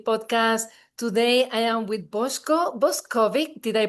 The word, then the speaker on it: Boshko Boskovic: Today I am with Boshko Boskovic. Did I pronounce it well, Boshko?